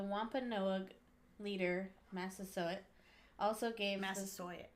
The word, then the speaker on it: Massasoit: Massasoit. Massasoit? Yeah, like the college.